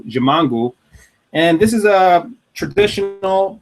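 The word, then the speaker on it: Ximango: delicious is jiongu and that's spelled uh x i m an G jangu and this is a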